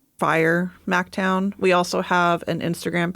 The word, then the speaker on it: FYR MacTown: It's FYR MacTown. It's pronounced Fire MacTown.